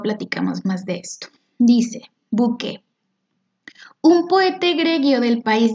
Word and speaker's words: bouquet: Este, por ejemplo, desde el título, este poema se llama Bouquet o Bouquet, si lo pronuncio, pues más como se escribe.